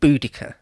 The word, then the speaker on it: Boudicca: or more um and you're supposed to say boudicca now apparently that is the agreed